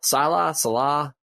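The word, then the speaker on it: Saleh: I know that with 2 weeks to game plan, I'm in Salah, Salah.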